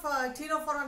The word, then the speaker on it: Ctenophora: See the spelling of Ctenophora on the screen. Here C is silent.